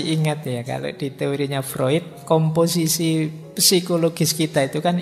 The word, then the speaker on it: Freud: saja eh gagasan psyoanalisisnya Freud ini tulisannya frewood Biasanya kalau mahasiswa baru membacanya masih fre nak apa-apa masih murni berarti masih asli belum terpengaruh Barat oke Nah teman-teman mungkin